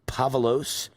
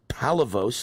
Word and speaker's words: Palavos: is with us Pavlos uh excuse me Palavos let me pronounce it right here Palavos chairman for